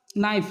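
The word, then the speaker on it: knife: के पहले आया हुआ के प्राय साइलेंट होता है नी नी माने घुटना नाइफ नाइफ माने चाकू नॉलेज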